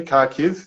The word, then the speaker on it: Kharkiv: Am I saying that correctly, Kharkiv? Yeah, you're saying it right. Close enough. That's the Australian way of saying it.